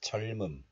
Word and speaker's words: 젊음: So 후회 없는 this letter is pronounced as 점 in isolation, but it is followed by a vowel of the next letter. So the sound 미음 shifts to the next letter, and hidden 리을 sound regains its value. So it is pronounced as 젊음. 젊음.